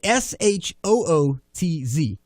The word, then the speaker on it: Chutz: We have the audio playing of Cody Chutz. Mind you, we put in the phonetic pronunciation of the word in the copy. I don't believe that. I did SHOOTZ. That is shoots.